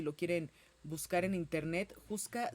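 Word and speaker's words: Houska: quieren buscar en internet juca se escribe h o u s k a castillo de juca en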